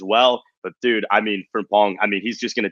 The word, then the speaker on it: Frimpong: I just got to say is 2 syllables, actually. Frimpong, my guy.